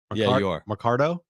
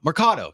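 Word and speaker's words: Mercado: stay with us on I seen it up Mardo that's not it say it Marcato Marcato Marcado sorry Oscar Marcado I don't know all all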